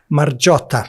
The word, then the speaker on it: Margiotta: should you say it marot marot so if you took the GI out and replaced it with a J you would get the